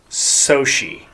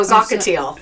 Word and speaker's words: Xochitl: The one that always throws me is Soshi. Oh, Zocatile. Zocatile. XOCHITL. CHITL. We have an associate at work. That is Soshi.